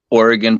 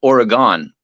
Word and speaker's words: Oregon: it seems to be people on the East Coast, they think Oregon is pronounced Oregon.